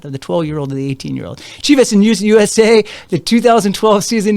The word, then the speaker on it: Chivas: 2012, he was traded to Chivas, USA.